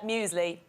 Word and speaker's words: muesli: The pronunciation of muesli. My mother says muesli, Sarah, every single time. We muesli. are always fine about that in my house. How do you say it? Cornflakes. She goes, do you know what I like now, Aisling? Muesli, Mammy. There's like a pretend Y there.